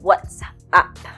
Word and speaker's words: WhatsApp: So, the correct pronunciation is WhatsApp. You see, it's like a play on words. It is an app, short for application, which enables you to find out what's up with your friends.